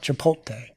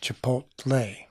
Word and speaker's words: Chipotle: you I would normally I would normally say it chipot and how do you what's the correct way to say it Chipotle say it like regular